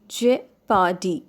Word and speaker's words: jeopardy: So, the first word is jeopardy. Jeopardy.